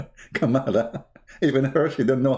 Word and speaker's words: Kamala: be so great by having joe biden and kamela kamala even her she didn't know how to pronounce her name i love my arabic